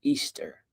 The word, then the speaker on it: Ishtar: known in our culture because Ishtar is pronounced Easter.